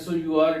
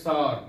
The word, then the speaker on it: sour: Last one is S-O-U-R. It is sour, not sour.